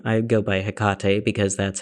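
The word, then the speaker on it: Hecate: So she along with Athena, Artemis, and I believe Hecade or Hkate. There are different ways to pronounce her name. I go by Hikate because that's how I think I've heard Helenists pronounce her name.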